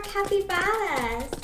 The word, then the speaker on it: capybara: It's more capybaras. Crap burrito. I don't know. I don't know how to pronounce it. Okay, do it again, and I promise I'll say it. Capybara. Like Baja.